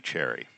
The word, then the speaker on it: Cherryh: And her last name was Cherry without the H. And her editor thought that that was a bad last name for a science fiction writer, so they just added a silent H to the end of it.